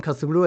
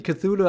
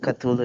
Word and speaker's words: Cthulhu: uh yeah yeah cthulu I think it should be cthulu I actually looked that up before doing the review on cthulu because I was also confused on how to pronounce that name um and I'm always saying culu is Chu or something ch ch but it's not ch ch well let's see if